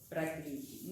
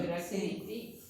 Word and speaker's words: prakriti: Me van a encontrar, hay otras palabras que me van a encontrar escritas de esta manera, por ahí sin la I, perdón, porque para pronunciar se le agrega la I.